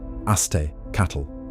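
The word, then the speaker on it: Aztēcah: The Nahuatl words Aztecatl, Nahuatl pronunciation Aztecatl, singular, and Azteca, Nahuatl pronunciation Azteca, plural, mean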